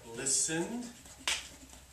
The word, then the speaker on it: listen: Yep, listened. Yes, and that word you don't hear the T.